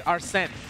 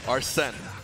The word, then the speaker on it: Arsene: It's Arsene. Arsene. There you go. I'll never mess it up ever again. Yeah, think like Spanish. Think like Arsene.